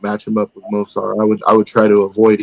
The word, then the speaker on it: Movsar: You got Mausvar, Elov, Yair, Ilya, Diego. No, Movsar. Say it again, Movsar.